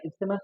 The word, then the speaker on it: isthmus: ठीक है, बहुत जगह पे जो है टीएच को साइलेंट पढ़ते, इसमस भी पढ़ते उसको, इस्टमस या इसमस भी पढ़े। ठीक है, तो आप लोग जो है इस्टमस पढ़ो उसको, क्यों, क्योंकि आप लोग